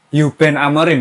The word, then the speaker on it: Ruben Amorim: Nanti tinggal bagaimana Ruben Amorim ini, Ruben Amorim ya pelafalannya, aku baru tahu.